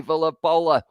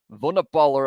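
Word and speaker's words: Vunipola: Billy Villapola dragged down, I said his name wrong. Vunapola it was, sorry.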